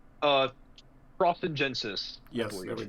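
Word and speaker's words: trossingensis: Uh, Crossingensis, I Yes, there we believe. go. The Latin and probably German pronunciation would be Trosingensis, Trosingensis, or Okay, something like that.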